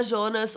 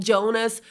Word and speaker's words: Jonas: É porque eu assisti em alemão, então eu falo com a pronúncia original, mas você pode falar Jonas ou Jonas, como você quiser, não tem problema nenhum, tá, gente?